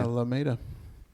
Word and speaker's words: Alameda: Is that how you pronounce it? It's Yeah, Alameda.